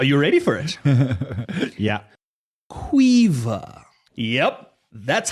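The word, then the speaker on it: Caoimhe: Quaver. Yep, that's how it's pronounced. That's how it's spelled. C A O I M H E is pronounced quaver if you're Irish.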